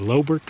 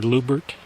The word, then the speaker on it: Loubert: lubert number 10 mine it's spelled l o u b RT lert or lubert so we're going to